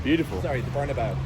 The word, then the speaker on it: Bernabéu: Like this walking down the Castellana, like going to like the Bernabéu, like this. It's beautiful. Sorry, the Bernabéu.